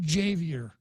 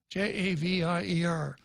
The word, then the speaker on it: Javier: That's the way most people would pronounce it, but Javier himself pronounces it Javier, Javier.